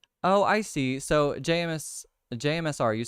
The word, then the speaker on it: JMSR: you know what jmsr I've been saying your name wrong I keep saying jsmr and I've like literally